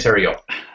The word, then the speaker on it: Tero: over to Mr rhymes with stereo Tero thanks Kurt hi everyone Tero here English teacher in